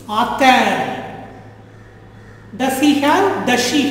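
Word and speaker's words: a-t-elle: So for pronunciation sake, add a T in the middle in both the cases.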